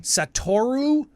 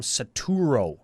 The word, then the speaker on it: Satoru: Satoru Umezawa. So, I want to flip-flop that O and that U, and I want to call him Saturo, but he's Satoru.